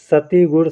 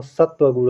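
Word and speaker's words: सत्वगुण: अभी मैंने बताया ही सती गुण सती गुण नहीं दोस्तों सत्व गुण होता है क्या होता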